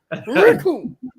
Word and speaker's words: Raccoon: The names Raccoon. It rhymes with doom.